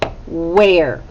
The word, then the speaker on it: where: let's try it out well it starts with wh so it has a digraph in the beginning ah it has an e and then it has er okay well that would be r and it has a silent e on the end now this is not a trick word or this is a trick word because the er together doesn't make the er sound it makes a short